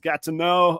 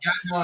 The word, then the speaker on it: Gatineau: The bass player is out of, I believe it's pronounced Gatineau, up by Ottawa. Gatineau in Ottawa, yep.